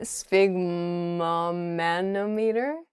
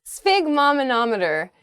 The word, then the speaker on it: sphygmomanometer: believe it what a sphygmomanometer sphygmomanometer an instrument for measuring blood pressure this is a new one for me - Spig mah manometer is this word isn't